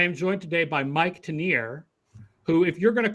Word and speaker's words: Tanier: 2022 and i am joined today by mike tenier who if you're going to call yourself that